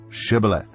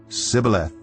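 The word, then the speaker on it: shibboleth: they said all right say shth if he said Sith because he could not pronounce the word correctly They seized him and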